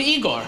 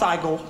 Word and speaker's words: Igor: Ah, Master, so you must be Igor. Oh, no, it's pronounced Igor.